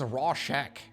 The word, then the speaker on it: Rorschach: Anyways, Rorschach. Am I pronouncing it correctly now? Rorschach. Bro, Google says Rorschach.